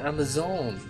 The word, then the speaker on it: Amerzone: I'm supposed to be pronouncing it Amazon. Amazon, of course.